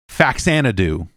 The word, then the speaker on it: Faxanadu: Faxanadu. Sorry, I had the pronunciation wrong.